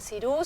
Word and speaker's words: Xirou: Cuerpo y movimiento se llama Cirú, se escribe Xirou, y Musaraña lo van